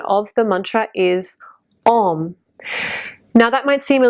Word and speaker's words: Om: this mantra is pronounced Om, and it's chanted Om. It's a different shape in the mouth than saying ow.